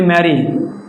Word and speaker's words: marry: এরপর আমি যদি বলি ম্যারি, MARRY, ম্যারি, ম্যারি, ম্যারি, দুইটা আর আছে, একটি আর উচ্চারণ হচ্ছে।